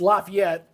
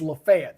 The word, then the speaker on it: Lafayette: called uh lafat now if you're in Louisiana it's Lafayette but in Alabama it's lefet so it just shows